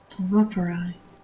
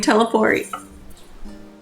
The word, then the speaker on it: Telophoroi: Telophoroi. That's how you say it. This whole time, I've been saying teleport. It's Telophoroi.